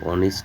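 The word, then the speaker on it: honest: বাসি লিসেন মানে শোনা এইচ প্লাস ও যদি থাকে এইচ এর উচ্চারণ অনুচ্চারিত থাকবে তাহলে এক্ষেত্রে আমরা বলতে পারি অনেস্ট মানে সৎ অনার মানে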